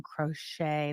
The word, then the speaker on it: crochet: You don't pronounce the T in crochet.